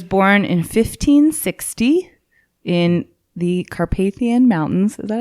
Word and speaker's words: Carpathian: I have to say though, the main reason I know how Carpathian is pronounced is probably because Vigo the Carpathian from Ghostbusters 2.